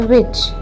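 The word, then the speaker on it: which: सबसे पहले तो WH जो कि हमें व की साउंड देता है, इसके बाद CH वर्ड, ठीक है, जो कि च के साउंड देता है, तो साउंड क्रिएट हुआ है विच।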